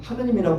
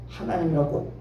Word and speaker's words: 하나님: 하나님의 보아서 나 그래요 여러분 부를 땐 하느님이라고 부르면 안 돼요 하나님이라고 발음하셔야 돼요 하나님이라는 건 안 되는 거예요 하나님이 와서 우리나라 가서